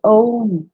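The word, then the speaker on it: ॐ: The low-pitched Om, the 3 syllables A, U, and M, the Om recitation, also brings about the parasympathetic predominance.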